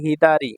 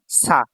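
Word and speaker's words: 左: number যে কাঞ্জিটা আছে এই কাঞ্জিটা এটা হচ্ছে হিদারি বামের কাঞ্জি হ্যা এটার জাপানিজ উচ্চারণ হচ্ছে হিদারি বামে আর চাইনিজ উচ্চারণ হচ্ছে সা তো এটা যখন সিঙ্গেল থাকবে তখন এটা হিদারি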